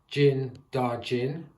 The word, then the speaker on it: Din Djarin: So, reading on the back of the box, I completely forgot his real name, which is Din Djarin. I think that's the pronunciation.